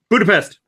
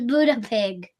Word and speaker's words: Budapest: My first pronunciation of this was Buddha pig. I mean, pest is a word you should probably know Buddha pig.